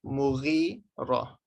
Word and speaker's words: Mughira: Ghain is a GH. Mughira.